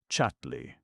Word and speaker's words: Chatterley: Why isn't Lady Chatterly good dear? My word, you're a lucky girl this morning. She pronounced the name as all the people did. Chatley.